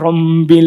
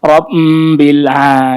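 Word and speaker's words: رَبِّ: dia bener nggak ini bacanya kok Robbil jadi kedengarannya kayak rombil, dia ada nya itu ke bawah itu. Makanya dia harus pure di bibir, nggak boleh ada gunah-gunahnya.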